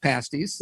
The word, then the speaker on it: pasties: whole different topic yeah and it's pronounced pasties we're going to get that clear and then there's always